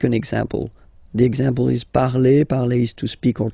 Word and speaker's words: parle: again, so remember, and after that you just put the ending e, and then the way to pronounce it is je parle, parle. So remember, we put it, okay, but then we don't really pronounce it, je parle, okay.